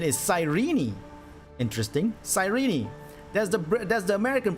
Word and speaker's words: Cyrene: I've been reading it as Shireen. Oh, okay. Yeah, Cyrene, exactly. Like S-A, like psychic. But apparently what I found surprising was the American pronunciation was Cyrene with a "ni" at the end.